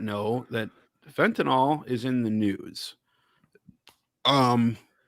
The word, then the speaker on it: fentanyl: a correction already yeah pretty sure it's fentanyl all right I mispronounce things that's my thing I'm pretty sure I'm double checking the pronunciation all right so yeah it's nil that's a lot of